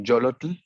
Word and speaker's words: Yollotl: Sí, la pronunciación es Yolotl y es en náhuatl.